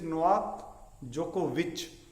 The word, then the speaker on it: Djokovic: In the same way, Novak Djokovic, #1 tennis player, it is VIC only, but it is not Vic, it is Novak Djokovic. So C sound pronounces sir, k and ch sound.